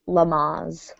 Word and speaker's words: Lamaze: you learn about childbirth I guess it is named after someone so it is pronounced Lamaze let's see I have